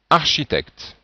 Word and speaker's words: architecte: Donc c'est architecte. Et on voit bien la transcription. Architecte. Bon, nous n'avons pas vu encore les voyelles, mais on voit bien ici que c'est facile de voir qu'on prononce ch.